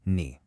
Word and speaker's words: 你: For ni, a lot of beginners will use a flat first tone, saying ni, instead of that dipping and rising third tone, ni.